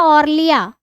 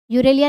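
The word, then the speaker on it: Aurelia: Jellyfish, jellyfish, jellyfish का दूसरा नाम है बेटा ऑर्लिया, यूरेलिया, ऑर्लिया, ऑर्लिया, यूरेलिया, जो आप प्रोनाउंस करना चाहें। ऑरेलिया, यूरेलिया नहीं, ऑरेलिया, ऑरेलिया, ऑरेलिया बोलते हैं इसको, याद रखना, पूछ लेते हैं परीक्षा में।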